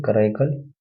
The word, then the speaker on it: Karaikal: हम्म, और नयनार में थी कराईकल। एक मिनट। अ, नयनार में थी कराईकल। कराईकल, स्पेलिंग बताओ।